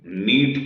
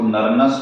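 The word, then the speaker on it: Nernst: आपको मालूम ही है यह वाला एन साइलेंट है इसको नरन नहीं नट इक्वेशन कहते और यह इक्वेशन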